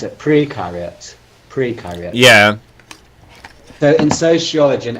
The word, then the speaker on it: precariat: How do you pronounce it? Precariat.